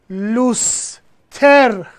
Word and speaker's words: لوستر: واژه از فرانسه وارد فارسی میشه. واژه لوستر. الگوی هجاییش C, V bar, C, C, C. ما همچین الگوی هجایی نداریم. چی تلفظ میکنیم؟ میگیم لوستر. حالا شد C, V bar, C, C, V, C.